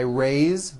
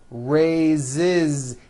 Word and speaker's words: raises: a bit unusual because even though it is spelled with an S it's pronounced with a voice z ways so we say I raised with a voice the ending and he raises raises he raises his hand